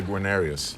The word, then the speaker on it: Guarnerius: No, actually, this one is a Guarnerius.